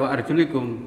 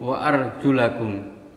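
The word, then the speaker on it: وَأَرْجُلَكُمْ: Sedangkan kita mazhab Asy-Syafi'i, kaki tidak boleh hanya diusap tapi harus dibasuh, sehingga wa arjulikum bacanya bukan wa arjulikum, wa arjulakum.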